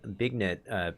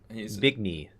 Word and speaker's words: Bignet: He's Bigny. Sorry, there's no T. Benet. Oh, you don't even pronounce the G then? No, it's French.